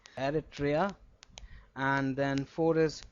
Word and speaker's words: Eritrea: Eritrea.